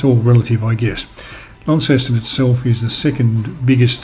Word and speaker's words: Launceston: closer just my way of explanation launceston is pronounced launceston system which has the same spelling is a